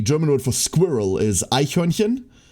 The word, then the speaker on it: Eichhörnchen: word for squirrel is Eichhörnchen? Like, good luck. If you've never pronounced a ch in your life before, you're not pronouncing that shit.